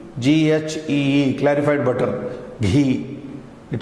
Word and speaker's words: ghee: Something like in English, Indian English, ghee, G-H-E-E, clarified butter, ghee.